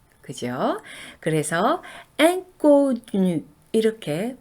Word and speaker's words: inconnu: 먼저 en으로 시작하는 이 음절이 바로 앙이라는 발음을 해요. 네, 프랑스어에서 비강모음이라는 것이 있는데요. 모음 뒤에 n이나 m이 연결될 때는 바로 코로 모음을 발음을 해주거든요. 그래서 이런 발음을 비강모음이라고 그러는데요. 이가 n이나 m과 연결될 때는 항상 앵 발음이 나요. 인이 아니고 앵 발음 납니다. 그래서 인connu 이렇게 발음하셔야 돼요. 인connu 하시면 안 됩니다.